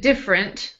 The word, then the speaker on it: different: Now, I pronounce it different, like two syllables, but it is spelled different.